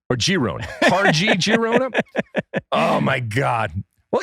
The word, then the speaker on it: Girona: All right, so we're gonna go with Girona. Yes. Like the je sound. Or Girona. Or Girona.